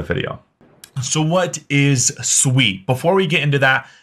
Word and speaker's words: Sui: first off what is sweet and first off what's how is it pronounced it is Sweet It Is Not sui I've been corrected multiple